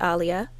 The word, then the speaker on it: Aaliyah: Sol, Resolution by Alia, also known as Aaliyah, but she pronounced it Alia, Higher by Sam Garrett and Mose.